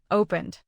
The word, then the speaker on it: opened: What about opened? Open ends in N, so use D.